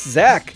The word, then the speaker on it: Dzak: guest host Chris Chris Zack the it's dzak but the D is silent I thought you guys